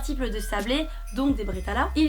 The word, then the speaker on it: Bredala: Alsace puisqu'on va faire des bretal ou à prononcer bretele si vous êtes du barin. Mes chers amis barinois, on est d'accord que bretala c'est quand même beaucoup plus joli à entendre que breteleux.